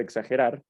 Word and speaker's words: exagerar: En el caso de exagerar, la última sílaba, que sería rar, es la sílaba tónica porque es, como ya hemos visto, la que pronunciamos con una mayor intensidad.